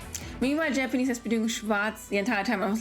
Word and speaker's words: Schwarz: It's not Schwarz. It's Schwarz. Schwarz-Drache-Barriere. Not Schwarz-Drink-Barriere. Oh, nee, come on. Leave me alone. It makes me nuts. Meanwhile, Japanese has been doing Schwarz the entire time.